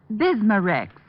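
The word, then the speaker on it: Bisma-Rex: stomach membranes well I'll have to remember that bismar Rex is that how you say it that's right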